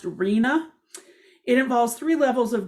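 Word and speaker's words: RHNA: called the regional housing needs assessment and it's pronounced arena it involves three levels of government at the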